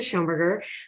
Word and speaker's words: Schoenberger: completely because it was it's always pronounced just like it it looks and sounds so I was just